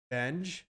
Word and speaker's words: Benge: That's just my Bangy pronounced like revenge. Benge?